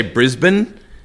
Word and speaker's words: Brisbane: When you say Brisbane, Americans say Brisbane.